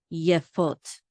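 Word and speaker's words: יפות: And we have the yud with the shava, which says ye, and the fe with the cholam vav, which says o, and the tav to close out the syllable. So this is fot. So yefot, yefot. And the accent is on the last syllable, fot, yefot.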